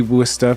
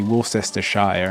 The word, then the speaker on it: Worcestershire: But it's, you know, you say Worcester, but if you spell it out, it's like Worcestershire, which is always funny when they used to say stuff like that. And like, I think the American TV's kind of caught up how to say it, but on 20 years ago, they'd say Worcestershire and stuff like that.